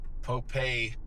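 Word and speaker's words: Popé: by a guy named Pope spelled like pope but an accent on the e. Poe was from Oka Awing San Juan Pueblo and he was the uh leader of the revolt.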